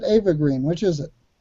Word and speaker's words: Eva Green: than I I say Eva Green you said Ava Green which is it she's French so it's Eva are you are you